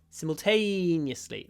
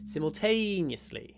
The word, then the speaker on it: simultaneously: simultaneously a long word make sure the t is the longest syllable simultaneously the other syllables we pronounce really fast simle simly yly but T is long simultaneously simultaneously the next one